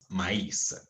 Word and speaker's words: maïs: Maïs. Yeah, oui. Beaucoup de maïs. J'ai mangé beaucoup de maïs. You remember we said this one has two dots. Maïs.